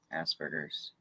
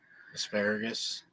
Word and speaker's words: Asperger's: Asperger's. I always say it wrong. Asparagus.